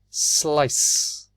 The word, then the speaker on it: slice: do we say it c is soft it's a sound so it's slice how do we say